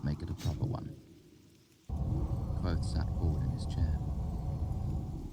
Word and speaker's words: Kvothe: My name is Kvothe, pronounced nearly the same as quote.